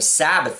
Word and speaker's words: Sabaoth: I remember when this album came out, I didn't know exactly how you were supposed to pronounce that. I was like, "Sabbaoth? What the does that say?" But then I I saw Danzig doing an interview, and that's how he pronounced it. I was like, "Okay, Death Red Sabbath."